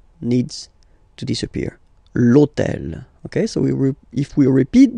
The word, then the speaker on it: hôtel: H, but remember that in French we don't pronounce H, okay? So basically the first sound of the word is the vowel O, okay? So for the same reason, E needs to disappear. L'hôtel.